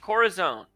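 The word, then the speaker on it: corazón: a very interesting muscle heart in Spanish is pronounced corazone oh really it is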